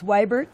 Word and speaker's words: Weibert: It's Weibert, W-E-I-B-E-R-T. Weibert? Yes. Oh, yeah, that's... Now you know how to officially pronounce it.